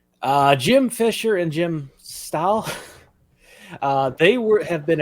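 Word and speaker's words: Stahl: uh it was written by Bill pretty Jim Fisher and Jim Style is that you pronounce that s-t-a-h-l aw whatever uh bill yeah Bill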